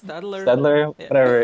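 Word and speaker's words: Staedtler: it's Stadler. Stadler, Yeah. whatever. It's spelled really weird too.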